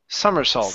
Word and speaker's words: somersault: word one more time the word is somersault sumers salt summer yes sumers salt sumers salt all right good